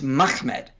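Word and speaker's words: מחמד: much same with this it's mahmed that's probably the most likely the earliest pronunciation you don't get muhammadin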